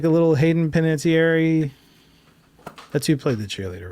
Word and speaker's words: Hayden Panettiere: You're not like a little Hayden Panettiere. That's who played the cheerleader, right? Yeah. Right? Okay. I don't know if you pronounced it right, but yes, you got it right.